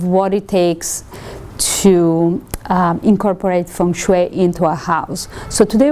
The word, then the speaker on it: feng shui: native speaking, what would be the correct pronunciation, a more correct pronunciation? Do you know? It's still Feng Shui.